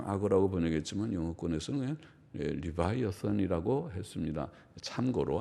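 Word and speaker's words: Leviathan: 리바이 어를 립 립 이를 리바이어선 류 바이어스는 영어발음을 리바이어선 이지만 딴 그 글자는 립의 악사 아니라고 하는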